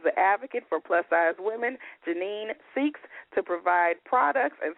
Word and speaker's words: Jennene: been a long time and I am I pronouncing your name right Janine yes that's correct okay but your nickname is